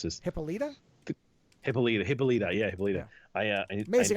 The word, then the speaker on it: Hippolyta: I can never pronounce this. Hippolyta.